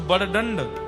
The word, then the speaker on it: बड़दंड: क्या बोलते हैं उसको, बड़दंड, बड़दंड बोलते हैं, बड़ो दंड, बड़ो दंड। हाँ हर है तो शब्द बड़दंड ही, पर वह उड़िया प्रोनाउंसिएशन में बोलेंगे बड़ो दंड।